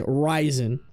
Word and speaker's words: Ryzen: Ryzen. It's like raisin, but with an I.